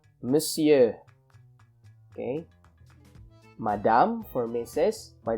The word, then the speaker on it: monsieur: your greeting for example monsieur again this is pronounced monsieur okay madame for missus by the way monsieur